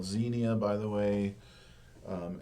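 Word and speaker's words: Xenia: Um, and the relationship is called Zenia, by the way. Um, X N I A is how that's spelled.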